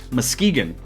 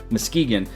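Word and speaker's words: Muskegon: One person was offended because I mispronounced Moskegan. It's not Muskagon, Michigan. As a 2 and 1/2 year Michiganer, I should have known it was Mskegeegan.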